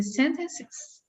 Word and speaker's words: sentences: So which of these syllables is the stressed syllable? Oh my God. The first? The first one, right? So how does that sound if the first syllable is the stressed syllable? Sentences. That's it.